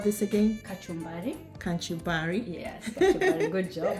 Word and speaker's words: kachumbari: final product what do you call this again kachumbari kachumbari yes kachari good job I'm pronouncing it yes that's kachumbari so the only part that's left is squeezing